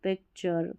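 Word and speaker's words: picture: भी रिपीट होता है इसको टर नहीं पढ़ना है टी यू आर ई को चर पढ़ना है चर जैसे नेचर फ्यूचर पिक्चर कल्चर ऐसा तो टी यू आर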